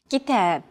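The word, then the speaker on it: كتاب: rhythm of stressed syllables kitab kitab notice that the second syllable is stressed it's pronounced longer and louder while the first and final syllables are shortened kitab if you think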